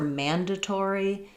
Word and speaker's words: mandatory: English for mandatory, predatory, we actually say the t the way the British will. So we use a true T here. It doesn't get flapped. And that's because in all of these words, predatory, um there's secondary stress on the to syllable.